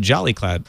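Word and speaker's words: Jolicloud: You can pronounce it Jolly Cloud, which makes you happier.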